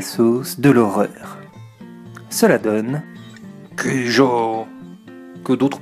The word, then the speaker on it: Cujo: Cela donne Cujo, que d'autres prononcent Cujo, notamment dans le film, mais je préfère dire Cujo.